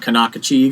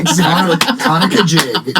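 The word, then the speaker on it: Conococheague: talking about the Conakajig River. Not Kanakachig. Not the Conakachig. No, Conakajig. Yes.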